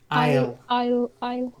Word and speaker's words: isle: that's it good then I'll silent s Isle like Island and IO yeah isle